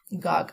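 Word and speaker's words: gawk: Next है गाक। अब इसकी प्रोनाउंसिएशन गाक है, लेकिन अगर हम इसको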